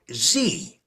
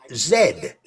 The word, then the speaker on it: Z: In the United States, the name for the letter Z is pronounced like Z, but in the rest of the English-speaking world, it is pronounced like zed.